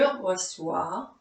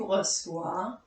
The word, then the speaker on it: reçois: This is to indicate that the C is pronounced like an S. Je reçois, tu reçois, il, elle reçoit, on reçoit, nous recevons, vous recevez, ils, elles reçoivent.